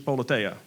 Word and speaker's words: Politeia: So a question about, is Politia, is that the right way to say it? So the Greek folks in our community have told me it's Politeia.